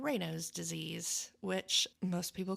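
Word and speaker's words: Raynaud's: Um because it's a person's name and he was French and it's pronounced reos.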